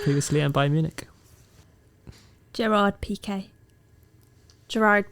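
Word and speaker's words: Piqué: play Man United previously and Bayern Munich Gerard PK Gerard Peak very nice yeah you're right Gerard P nice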